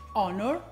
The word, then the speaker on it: honor: ce oppure come in altre parole che iniziano con l'acca muta sono hoeness honor hauer ma la maggior parte